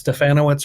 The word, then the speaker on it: Stefanowicz: But at Stefanowicz 135, and yes, Stefanowicz rhymes with Bananowitz.